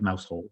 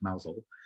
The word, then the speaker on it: Mousehole: It looks like Mousehole, but it's pronounced Mousehole.